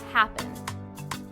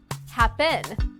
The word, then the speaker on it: happen: stressed in the verb happen listen again happen it's the first syllable right listen to the pronunciation if the second syllable has stress happen that's a little strange